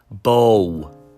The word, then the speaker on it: bow: can see and touch bow pronounced like cow bow pronounced like cow